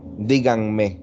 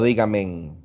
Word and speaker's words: díganme: Díganme, no dígamen, díganme, díganme. Díganme, se escribe pegado y al final de la palabra.